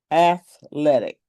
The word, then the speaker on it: athletic: Athletic. One, two, three sounds. Three syllables. Athletic. Not athletic. Just look at the spelling. athletic athletic, right? Not athletic.